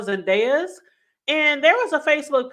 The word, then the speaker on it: Zendejas: of Steven Fibs and his name I believe is pronounced Noah Zandez and there was a